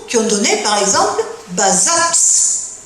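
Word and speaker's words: Bazas: ont donné par exemple Bazat le T se prononce toujours mais attention quand je viens vers le sud-ouest, qu'est-ce que vous remarquez là ?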